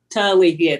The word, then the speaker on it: Talithia: We pronounce your first name Talithia. Is that right? Talithia, the H is silent.